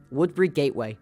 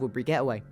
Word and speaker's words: Woodbury Getaway: Woodbury Gateway. Woodbury Gateway is a common mispronunciation and misspelling of episode 5 Woodbury Getaway, and it's been mixed up by a lot of people.